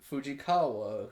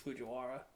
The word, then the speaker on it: Fujiwara: I'm not as invested as I am in like Fujikawa, who raps and cheats. And got her name wrong. I did. I think it's Fujiwara.